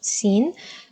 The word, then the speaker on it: سين: see here it's a easy to pronounce scene almost like the letter s in English but the only difficulty